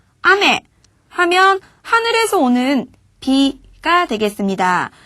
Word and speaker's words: 雨: 하늘에서 내리는 비는 아메 이렇게 발음해 주시면 되겠습니다.